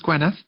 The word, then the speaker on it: Gwyneth: part, my name is Gwyneth. Gwyneth. People just call me. Spelled the same. It's pronounced the same as G-W-E-N, but spelled G-W-Y-N.